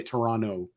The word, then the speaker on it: Toronto: city in Toronto so you don't pronounce the T you say Toronto yeah so I was